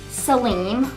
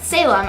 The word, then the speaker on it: Salem: is silent and oh my last name is not Saleem like salami but Salem as in Salem City Oregon if you do not